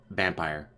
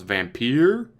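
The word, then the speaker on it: Vampyr: they said everyone yes spelled with a y but it's pronounced vampire and he's off how's it been I was vampeer now it's pronounced vampire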